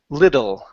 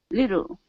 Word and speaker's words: little: so you're very close you have a good flap T here but the l sound at the end okay um uh give me a good l so it's l little little there you go a